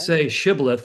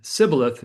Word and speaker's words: shibboleth: say shibboleth, if they said sibboleth, you would know this was not one of your comrades.